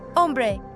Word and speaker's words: hombre: Hombre, right. Hombre. H is silent, always. No exceptions.